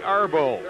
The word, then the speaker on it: Archambault: The boys, I asked him about how he pronounces his name, and he said, call me Arbo, but we won't do that.